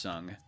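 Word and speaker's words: Tseng: uh spelled t-s-e-n-g and it's supposed to be pronounced sung instead of saying for whatever reason the turks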